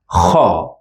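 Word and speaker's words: خ: This time we have the dot on top, and we pronounce it as kha. It's also a throat sound because the sound comes from the throat.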